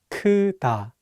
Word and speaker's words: 크다: Again, be careful with the first syllable. It's not pronounced like 크. Listen one more time. 크다.